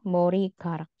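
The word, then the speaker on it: 머리카락: aja atau moriara ya Mori karak tulisannya Mori Garak Tapi bacanya Mori karak kadang orang-orang nulisnya yang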